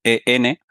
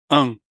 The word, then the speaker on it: en: cuando tienen n no e n la la preposición muchas veces lo pronuncian como enm en lugar de en dice en en y y y Bueno